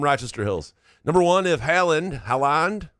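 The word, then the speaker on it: Haaland: Number one, if Haland Haland, how do you say it? Holland.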